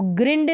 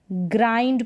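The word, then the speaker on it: grind: पढ़ा जाएगा ग्र ग्राइंड इसको ग्रंड नहीं पढ़ेंगे क्या पढ़ेंगे ग्राइंड पढ़ेंगे ग्राइंड ग्राइंड तो यहां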